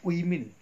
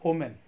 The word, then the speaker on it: women: The first word, that is women, we should pronounce it as women, not omen.